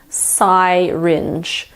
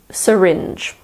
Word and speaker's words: syringe: why in this word it's not pronounced sigh rindge it is syringe word number eight is